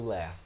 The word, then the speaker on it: laugh: Love the way that you laugh. Essa palavrinha aqui, galera, pronunciei comigo, pratiquei comigo. Você diz laugh. Pode falar com F mesmo, tá?